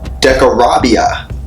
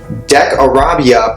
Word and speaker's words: Decarabia: So Decarabia, pronounced De-Ka-Ra-Bi-A, is an earth realm spirit who knows all of the dark places of earth.